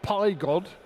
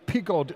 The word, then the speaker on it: Pigod: El Muffy says it's not Pygod, it's Pigod in Italian pronunciation.